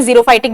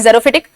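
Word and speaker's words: xerophytic: Vegetation यानी कि जेरोफिटिक, जेरोफिटिक vegetation, इसका प्रोनाउंसिएशन जीरोफाइटिक भी होता है, अगर कोई आपको जीरोफाइटिक बोल रहा है तो it's correct. I have a habit of calling it जेरोफिटिक।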